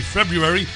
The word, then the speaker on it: February: charging back in February February you've gotta say it properly February was there Larry Gators